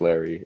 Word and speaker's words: Leri: your family mm-hmm yeah so my name is larry argueta um but uh you guys so like to say in spanish it's lady argueta just a little fun